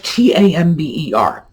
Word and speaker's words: timbre: Timbre, like Tamber. How that I got that sort of A pronunciation, I have no idea.